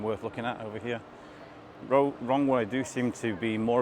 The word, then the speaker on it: Roewe: very interesting nice so yeah that's pretty much wrong way or row well it's it's spelled Row Way in English writing but the pronunciation in Chinese is wrong way is another standard rx9 so this must be